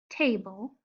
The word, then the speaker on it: table: When you say the word table, there is a quiet vowel sound called the schwa sound right before the sound that you hear for the L.